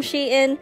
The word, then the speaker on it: Shein: sheet in yes i actually googled how to pronounce that properly these are also my very first purchase from shein and i kid you not it won't be